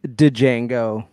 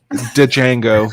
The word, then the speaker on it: Django: girls yeah um that's dejango dejango with the d the d is silent oh i i need